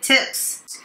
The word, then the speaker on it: tips: The clown was playing to the crowd to get tips.The clown was playing to the crowd to get tips. Clown っていうのはピエロのことですね。で、これに発音が似ている冠は crown ですね。